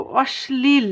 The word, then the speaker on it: অশ্লীল: শয়ের সঙ্গে যুক্ত হয়, ল যখন তালব্য শয়ের সঙ্গে যুক্ত হয় তাহলে তার উচ্চারণটা হয় ইংরেজি এস এর মতো। বাংলাতে এস মানে বাংলাতে দন্তস্ব আর ইংরেজিতে এস এর মতো উচ্চারণ হয়।